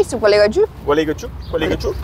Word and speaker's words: Gualeguaychú: Gualeguaychú, Gualeguaychú.